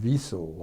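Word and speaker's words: Wesel: We pronounce it Wiesel, I believe, W-E-S-S-E-L-L.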